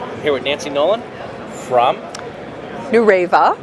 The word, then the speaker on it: Nureva: with Nancy Nolan from New raiva new raiva get that right it's not nor Eva that's the proper pronunciation we're even hear about